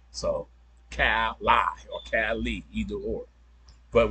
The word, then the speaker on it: Kalli: And then it's Cali. You don't have a C, you got a K. So Cali or Cali, either or.